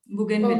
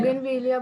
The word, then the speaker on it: Bougainvillea: Okay, मैं you आपको tell me the spelling बता दूं? spelling. Yes. BOU GAIN GAIN. Okay. VILL। Bougainvillea. बोगनवेलिया बोल रही हूँ।